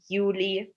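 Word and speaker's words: Juli: For example, জুলাইকে আমরা বলি ইউলি, জুনকে আমরা বলি ইউনি, বা অগস্টকে আমরা বলি আউগস্ট।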